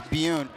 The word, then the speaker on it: Byun: BYUN, is it BYUN or BYUN? BYUN. It's BYUN. Steve came with the pronunciation for us. That's a Korean last name, am I right? I believe it is. With the one syllable, yes.